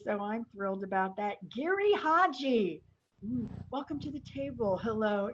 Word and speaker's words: Giri/Haji: something very exciting i just learned how to pronounce it correctly so i'm thrilled about that gary hodgy welcome to the table hello idris thank you